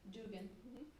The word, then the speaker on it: Duggan: In case you don't know who Lisa Duggan is, Dugan. Professor of Social and Cultural The Irish Analysis. pronunciation, Dugan. Dugan.